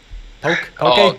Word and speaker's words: poke: Poke. In Hawaii we pronounce that poke. Poke, yeah. So, like, but everybody, that's what they say, because straight across poke.